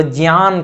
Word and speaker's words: ज्ञान: कोई बात बोलते हैं जैसे वो ज्ञान कहेंगे तो ज्ञान नहीं कहते वो ज्ञान कहते हैं ज्ञान ज और ञ का उच्चारण करते हैं।